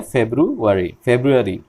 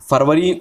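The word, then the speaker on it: February: हैं तो उसका जो करेक्ट प्रोनाउंसिएशन है वो है फेब्रुअरी। तो अगर फरवरी हम उर्दू में हिंदी में कहते हैं, लेकिन अगर इंग्लिश में आपको ये पढ़ना है तो आपको फेब्रुअरी ही पढ़ना होगा। इसके अलावा अगर आप कोई दूसरा कोई प्रोनाउंसिएशन करते हैं तो वो गलत है।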